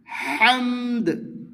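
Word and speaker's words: حمد: ল কাল লাকাল লাকাল হামদ হামদ হামদ মানে দালে টাচ হবে দাল সাকিন করে কলকলা করতে হবে বা হামদ দু আওয়াজটি অল্প যাতে মদ না হয়ে যায় এভাবে বলতে হবে হামদ হামদ রাব্বানা লাকাল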